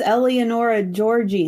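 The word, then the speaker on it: Eleonora Giorgi: Oh, it has Eleonora Georgi in it. I can't say her name. I'm sorry. You nailed it. That's literally how she says it.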